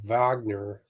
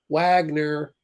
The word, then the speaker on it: Wagner: Someone is chanting Wagner. Actually, he's saying it wrong. Wagner.